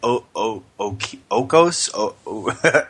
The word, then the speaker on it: Oikos: It's how do you pronounce it, Miss Greek? Okos? Eco? Sure, that's the name. Oikos.